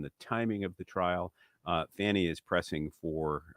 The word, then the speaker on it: Fani: Fani is pressing for. I know she wants it pronounced Fani, but and I once again issue the Fani challenge.